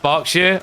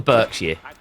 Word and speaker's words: Berkshire: And yeah, it's pronounced Berkshire. I'm a British person. Can authenticate. It's not the Berkshire. Or the Berkshire.